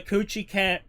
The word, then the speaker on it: Kuchiki: Also, they just talked about repairing that the Kuchiki clan has clan has money and power to kind of say like what Kuchiki. I always want to say Kuchi. I know that's not correct, but that's always my brain goes with that.